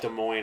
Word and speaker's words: Des Moines: It's also, there's like Des Moines, Iowa. They don't pronounce the S there.